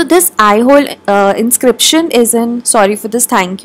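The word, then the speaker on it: Aihole: next हमारा जो last question है दैट इज एहोल इंक्रिप्शन या आई होल इसको प्रोनाउंस करते हैं ऑफ पुलक शन टू मेंशंस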